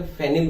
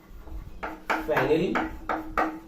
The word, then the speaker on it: phenyl: बोल के क्या बोलेंगे, फेनिल बोलेंगे। और फेनिल की स्पेलिंग किससे शुरू होगी, P से, PHENYL फेनिल।